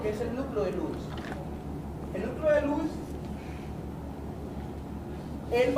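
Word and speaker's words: Luys: subtalámico o núcleo de Lewis. Lewis se escribe L-U-Y-S, Lewis.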